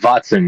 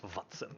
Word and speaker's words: Watson: Oh, Watson with a V. I thought so. Yes, Watson.